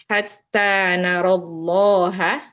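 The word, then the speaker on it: حَتَّى نَرَى اللَّهَ: Sama juga hatta narallaha. Kalau kita mau berhenti, sebenarnya bacanya jadi hatta naro. Ya, tapi karena di sini ada lafaz Allah, yang mana lam sukunnya yang pertama di sini ada lam sukun. Jadi dihadzaf ya, dibuang ya-nya secara bacaan, langsung pindah ke huruf lam di lafzul jalalah.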